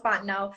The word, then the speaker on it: Fontenot: So it looks like Ms. MS Sarah Fontenot, but it's pronounced Fontenot.